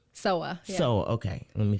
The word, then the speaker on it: Sowa: Sowa.